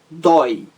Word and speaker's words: dói: Outro exemplo de monossílabo, apenas uma sílaba, dói, dói, dói, ditongo aberto tônico, forte, dói.